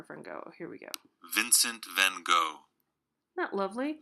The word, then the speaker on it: Vincent van Gogh: It will give you the pronunciation. There's like little recordings in here. Where'd our friend go? Here we go. Vincent van Gogh. Isn't that lovely? Vincent van Gogh.